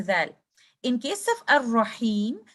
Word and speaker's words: Ar-Rahim: I will say Ar-Rahim. Do not add too many Ra's by giving time of Rakhawa like this. Ar-Rahim. Or say it like this. Ar-Rahim. That is with Shidda.